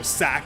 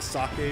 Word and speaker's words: sake: But when people say things wrong, they call it, like, you know, sake instead of sake or something.